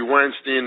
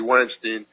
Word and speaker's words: Weinstein: I can't see why it's Dianne Feinstein and Harvey Weinstein it's the same word as a German word for a beer mug right Steen or Stein anyway this call Harvey Weinstein I would say after